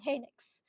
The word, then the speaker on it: Henix: Henix, that is how we pronounce his name, which is actually a damage dealer.